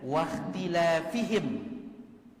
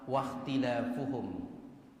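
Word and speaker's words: واختلافُهم: Ada dua bacaannya dari para ulama. Ulama beda pendapat membacanya. Sebagian ulama membacanya wakhtilafihim, baris bawah wakhtilafihim ala anbiya'ihim. Sebagian ulama membacanya baris dhammah wakhtilafuhum ala anbiya'ihim. Ya beda ke maknanya ini, beda maknanya, beda jauh. Dan bacaan yang benar adalah bacaan dhammah wakhtilafuhum.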